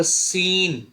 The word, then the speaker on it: scene: देखिए SCENE। अब देखिए इसमें एस एकदम, सॉरी, सी एकदम साइलेंट है। सी साइलेंट है तो ये क्या होगा? ये होगा सीन, और सीन का मतलब होता है दृश्य, नजारा।